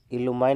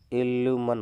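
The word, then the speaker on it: illumine: इल्यूमाइन mini, इल्यूमाइन नहीं होता है, इल्यूमन होता है, इल्यूमन। ठीक है, इसका प्रोनाउंसिएशन क्या होगा? इल्यूमन।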